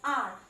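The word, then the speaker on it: hour: R, again it begins with H, which is a consonant. But H sound is silent here. The correct pronunciation is R.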